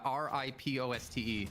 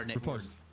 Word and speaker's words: riposte: How do you say the R-I-P-O-S-T-E sound? Or riposte. I call it riposte, yeah. But I've heard people say riposte as well. I think it actually is dialect dependent, like American or English or whatever.